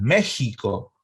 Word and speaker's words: México: para muchos es méxico se escribe con equis pero como se pronuncia méxico y lo mismo oax